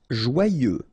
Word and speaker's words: joyeux: Joyeux. Final X not pronounced, and then joyeux.